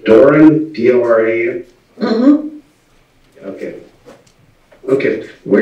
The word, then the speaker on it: Doran: Okay, Miss Doran, it's pronounced Doran, D-O-R-A-N?